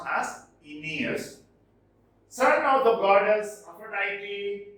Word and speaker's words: Aeneas: It is pronounced as Aeneas, son of the goddess Aphrodite and Anchises.